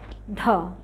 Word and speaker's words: ধ: এই উচ্চারণটা আমার সাথে সাথে বলো, আমার দিকে তাকাও, ধ ধ, আবার বলো ধ। দেখো আমরা কিন্তু একটু ধাক্কা দিয়ে বলেছি, এটার সাথে একটু হ উচ্চারণ হয়েছে, ঠিক আছে?